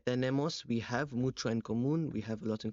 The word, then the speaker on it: común: Maybe porque tenemos, we have mucho en común, we have a lot in common, tenemos mucho en común with the accent on the U.